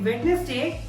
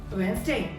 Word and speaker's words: Wednesday: Well, if you also pronounce it Wednesday, then I'm so sorry to share it's incorrect. The correct pronunciation of this word is Wednesday. D is silent. Wednesday.